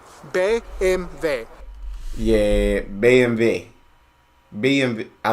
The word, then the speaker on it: BMW: German they don't say BMW well they do they do say BM and W but they say the letters like it is in German BV B MV yeah BMV BMV I